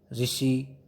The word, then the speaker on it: ऋषि: री का प्रयोग केवल तत्सम शब्द संस्कृतों में होता है, जैसे ऋतु, ऋण, ऋषि। री की ध्वनि आ रही है ना, इसको क्या पढ़ेंगे? री के रूप में होता है।